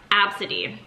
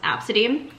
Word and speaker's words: ABCDE: I kid you not is it spelled ABCDE but her name is pronounced absent Eve I don't know how